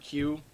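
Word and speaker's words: queue: Do you guys know the word Q? Is just the letter Q with four silent letters after it.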